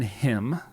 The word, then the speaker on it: hymn: out called serenity in him yes by the way the hymn is spelled h-y-m-n so there's the plan word serenity in him like a him it's a hymns album